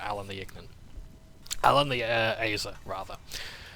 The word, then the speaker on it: Azer: Alan the Azer, rather. That's the Azer being the pronunciation that I think Marisha Ray used on D&D Beyond.